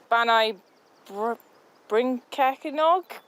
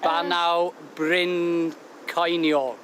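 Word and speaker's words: Bannau Brycheiniog: Can you pronounce it? Oh, Banai Brincachinog? Not bad, not bad. The new Evie, have a go. Banu. I'm going to go with Banau Bryn Cainiog.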